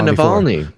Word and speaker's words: Navalny: how you say it i said it yeah navalny oh yeah yeah yeah yeah yeah samuel melanie's